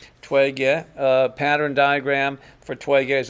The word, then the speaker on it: Toi-Gye: them as closely as they could to the pronunciation so it's Twiggy Twiggy pattern diagram for 12 years a + /